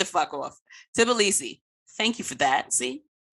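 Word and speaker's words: Tbilisi: jordan i mean wanda how do you pronounce t is it tb sybee it's tobilisi oh way the off tibilisi thank you for that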